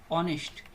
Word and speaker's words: honest: ऑनेस्ट। इसका pronunciation होता है ऑनेस्ट, यानी एच का लोप हो जाता है, तो इसके आगे क्या आएगा?